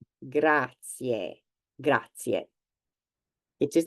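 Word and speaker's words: grazie: you thanks um and you have to pronounce each vowel and said so the a which doesn't present any problems however the last two for some reason do the first vowel you have here is e the last one is e gra gra gra it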